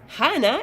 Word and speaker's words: Hana: then I'll say Parana Hana is how I pronounce my name in Spanish because Hannah does not exist in Mexico yes some people can